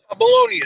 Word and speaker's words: Meloni: I was going to say, Anthony, pronounce that for us. Meloni is right.